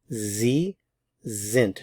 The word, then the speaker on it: Sie sind: Sie sind. Notice the pronunciation of the S's.